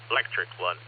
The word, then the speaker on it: Lectric: My friend Nancy bought a electric one. It's spelled LECTRIC.